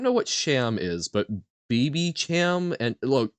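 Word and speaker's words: Babycham: oh dear God um so it's pronounced sham like champagne ah okay duck life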